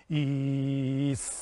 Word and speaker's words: Is: is vocalized like this e remember that the I is pronounced like a double e like in tree prolonging a syaban sound